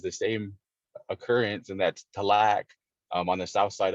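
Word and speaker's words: Tallac: same occurrence and that's talaq um on the south side of lake lake tahoe so mountain to lack or as we would say the lock in our language mount de la means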